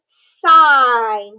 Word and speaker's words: sign: another one syllable word sign we have i g n which is um a special vowel sound that says i'm but that g in the n is also a diagraph with the g silent so we have the